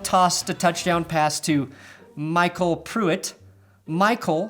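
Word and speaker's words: Mycole: Phonetically, it actually makes a lot more sense than Mich-A-L, but I don't like the fact that it sounds like somebody owns a guy named Cole.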